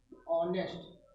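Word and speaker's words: honest: जिन शब्दों में यच, बहुत से शब्द ऐसे होते हैं जिसमें यच क्या होता है, साइलेंट होता है, छिपा होता है, ठीक है, मतलब लिखा होता है लेकिन उसको हम पढ़ते नहीं है, साइलेंट होता है। तो वहां पर भी जो है हम किसका प्रयोग करते हैं, एंड का प्रयोग करते हैं। फॉर एग्जाम्पल जैसे देखिए एंड आवर, एंड आवर, ठीक, एंड ऑनेस्ट, एंड ऑनेस्ट, एंड यच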